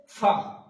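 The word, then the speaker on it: ف: তারপর আছে ফা, ফা উচ্চারণ করার সময় আমরা করব ফা, ফা।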